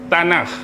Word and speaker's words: Tanakh: Ejaan dia T A N A K H T A N A K H tanah.